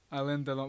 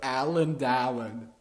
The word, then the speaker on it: Alain Delon: Alain Delon. But I can't not pronounce that shit not in French because it's fucking... Alain Delon. Alright, man. Alain Delon or whatever you pronounce Alan Dallin.